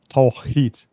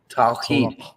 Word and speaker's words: Tawhid: Pronounced. I have my issues with it as well. It's Tawhid. Tawhid.